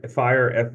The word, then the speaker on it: FHIR: a certain type of Health Plan and this fire fhir is that's how it's pronounced is basically a way to do interoperability